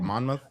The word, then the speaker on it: Monmouth: Monmouth.